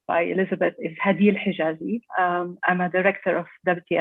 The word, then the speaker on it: Hadil Hijazi: My name, as correctly pronounced by Elizabeth, is Hadil Hijazi.